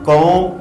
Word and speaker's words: comb: Friends, आपने यहाँ पे ऑब्जर्व किया होगा कि जब मैं कॉम को प्रोनाउंस कर रहा था तो एंड पे जो बा साउंड है उसको साइलेंट कर रहा था, यानी कि बा साउंड में प्रोनाउंस नहीं कर रहा था।